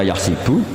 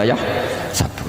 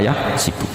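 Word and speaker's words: يحسب: Karena dalam qiraat asab ada yang baca yahsibu, qiraat kita baca yahsabu. Tapi guru-guru kita kalau ngajar fikih itu bacanya yahsibu. Tapi kalau baca Quran yahsabu. Ya kan Quran kita kan ayahsabu Allah yaqdiru alaihi ahad, bukan dibaca ayahsibu.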